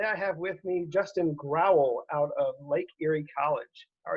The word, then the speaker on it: Growel: Hi, I'm Jimmy Williams with Draft Diamonds, and today I have with me Justin Growel out of Lake Erie College.